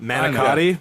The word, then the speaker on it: manicotti: Manicotti? Manigotti? Manicotti. Manigot. Stuffed It's manicotti.